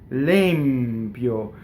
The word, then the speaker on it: l'empio: Limpio. Notice that the E is stressed and it's a closed E. It's not an open E.